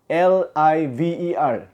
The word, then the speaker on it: liver: 예를 들어서 간, 우리 내장의 간은 L-I-V-E-R, liver입니다. liver. 근데 이게 발음을 잘못해버리면 강을 뜻하는 river로 난단 말이에요. 그러니까 L이 먼저 나오는 단어들에서는 쌍리을, liver 이러면 간이고, R이 들어간 발음은 제가